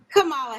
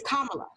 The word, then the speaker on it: Kamala: it's not kamala it's kamala kamala pamela so think of a punctuation mark a comma and then put la on the kamala and i've been saying